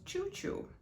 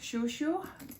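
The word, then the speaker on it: Chouchou: of this bag was choo choo i'm sorry shushu probably my pronunciation of french is not really that good that means favorite when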